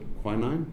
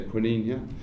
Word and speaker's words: quinine: the main one being i think you guys pronounce it quinine we say quina the only known cure